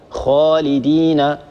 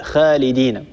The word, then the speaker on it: خالدين: الصواب أن نقول هكذا خاء، خالدين، خالدين، ولا نقول خالدين. عدم تفخيمها من الأخطاء الشائعة.